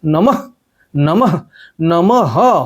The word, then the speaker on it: নমঃ: শব্দ বলতেই হবে এবং এইভাবে বলতে হবে যেন বিসর্গের একদম সঠিক উচ্চারণ হয়। নম করে দিলে হবে না, নমঃ নমঃ নমঃ হয় হসন্ত, এই ব্যাপারটাকে মাথায় রেখে রেখে উচ্চারণ করতে হবে।